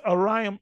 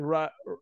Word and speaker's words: Orion: It's Orion Blob. He said, Ryan Blob.